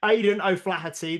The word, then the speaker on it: Aidan O'Flaherty: I keep getting his name wrong. Aidan O'Flaherty, the Irish physio.